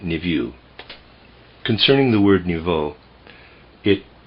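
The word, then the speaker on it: niveau: i v e auau I'm pronouncing it NIU concerning the word nvo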